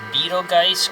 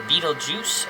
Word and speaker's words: Betelgeuse: we're here at 8786 either pronounced Beetle Geist or Beetle Juice um in San Diego